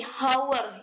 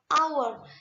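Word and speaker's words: hour: bunyi dari kalimat ini hower ya kita tidak menyebutnya hower tapi Awards jadi our ini merupakan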